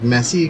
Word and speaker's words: Messi: Messi is that correct like messy messy like how people make a mess right that's the correct correct messy it's Italian it's Italian